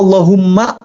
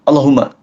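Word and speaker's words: اللهم: Apakah Allahumma la-nya di situ harus dua harokat? Betul, harus dua. Allahumma. Kalau bacanya Allahumma, batal tuh. Pastikan Allahumma. Allahumma sholli ala Muhammad. Jangan Allahumma, salah.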